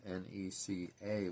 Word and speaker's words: NECA: ones that Neca did, and Neca, spelled N-E-C-A, by the way, and I believe that's how it's pronounced. Could be Nika, I guess, but I pronounce it Neca.